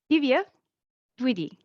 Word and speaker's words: Divya Dwivedi: And today we have a most interesting topic brought to you by all the way from India, Divya, Dwivedi.